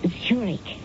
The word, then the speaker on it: Zurich: That's pronounced Zurich, as in the Swiss city.